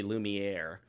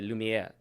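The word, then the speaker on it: Lumière: You can't say Lumiere. You have to say Lumiere. Soft R. You don't want the hard R.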